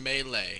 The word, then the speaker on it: Melee: And it's actually pronounced Melee.